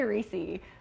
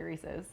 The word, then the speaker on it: Reese's: How do you say Reese? I say Reese, but most people say Reese's.